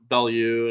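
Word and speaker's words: Belyeu: sit there and he's talking about Max Ballou and not pronouncing Bellew, and he's like Ballou, I hate when they right?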